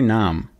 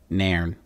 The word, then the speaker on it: Nairn: trip with Skipper Jeffrey Nam Nairn hello how do you pronounce I thought that was an M it's not it's like Nairn I haven't seen you